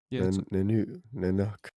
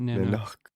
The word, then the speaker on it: Nanuk: Pronounced nuk. Nanuk. No, not Nanoo.